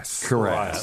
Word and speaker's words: cuirass: Cuirass. I'm thinking Cuirass. Like caress. Like a Cuirass. Caress.